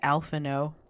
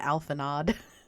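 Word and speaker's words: Alphinaud: what have you learned I've been pronouncing his name wrong this whole time it's Alano I've been calling him alanod whoops pray summon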